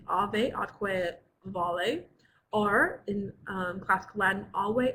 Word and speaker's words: ave atque vale: We're going to start today with our Latin saying, which is alve atque vale, or in classical Latin, alve atque vale. Because in classical Latin, the V's are pronounced like W's.